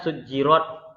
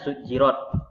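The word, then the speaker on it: سُجِّرَتْ: Ini tulisannya rat tapi dibaca rot. Ingat ya Bapak, jangan nanti dibuat kalau ada latihan bacanya sujjirat, dia buat di sini bukan A tapi O, sujjirat. Itu salah ya Bapak semua. Yang betul adalah rat. Tulisannya sujirat, bacaannya sujirot.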